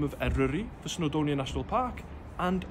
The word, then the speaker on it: Eryri: No pressure to get the pronunciation perfect, but try this. Wyddfa. Wyddfa. Eryri. Eryri.